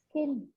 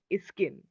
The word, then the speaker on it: skin: But when you are saying Okay, it in a sentence, you are adding an I in front of it. Is skin.